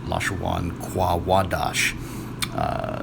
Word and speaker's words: לשון הקודש: might notice is that it's spelled with the wa. So if they were to, disregarding the definite article, the ha, if they were to pronounce that according to their system of pronunciation, then they would pronounce it Lashawan Quadash.